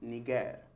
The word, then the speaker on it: niger: It is the Latin word for black, and that word is pronounced niger, mm-hmm.